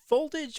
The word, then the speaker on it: Volt Age: by Chill Collins and Voltage. Is it is it Voltage or Volt Age? Well, he puts a space between it and so I always pronounce as Volt Age.